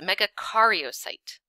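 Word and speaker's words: megakaryocyte: your head all right it's Mega Cario site not care Mega Cario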